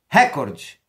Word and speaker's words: recorde: e Belo pudico recorde cuidado com essa palavra me irrita profundamente uma emissora de televisão a maior do Brasil que busca tacar na cabeça dos brasileiros que essa palavra é proparoxítona Record recorde é inglês não é português a palavra correta a prosódia correta dessa palavra em língua portuguesa é